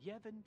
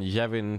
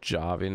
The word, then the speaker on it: Yavin: Dann gehen wir zu dem großen Tempel von Yevin 4. In Englisch wird das ja auch Yavin ausgesprochen, ne? Und auch nicht Javin oder Javin, ne? Oder Yevin.